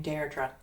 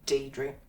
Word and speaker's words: Deirdre: My name is from the Irish, so you would pronounce my name Deirdre. Deirdre. Yes. But because I live in this beautiful country, most people just say Deirdre.